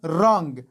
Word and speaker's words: wrong: بل مثال wrong دلته هم له W وروسته R راغلی او W نه ده تلفظ شوی wrong او wrong به نه وایي.